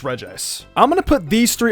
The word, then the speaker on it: Regice: were pronounced as Reggie I thought the ice one would be two but then I found out it was just regice I'm gonna put these